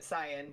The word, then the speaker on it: Saiyan: if you oh no, I almost will actually, but you can pronounce it Saiyan or Saiyajin.